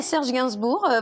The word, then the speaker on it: Serge Gainsbourg: Is that how you pronounce it? Serge Gainsbourg.